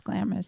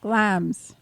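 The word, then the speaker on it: Glamis: a m i s so you think it's glamous that's why I keep saying that we were corrected that it is actually pronounced glams glams glams castle and why is glams Castle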